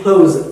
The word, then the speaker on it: close: When it is verb, it is close, the za sound. Okay? And when it is adjective or adverb or noun, that becomes sa sound.